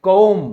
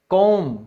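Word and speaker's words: comb: फिर है आपकी कंघी, उसे हम क्या कहते हैं, उसको हम कहते हैं कौम। क्या बोलेंगे, कौम, क्योंकि बी साइलेंट है।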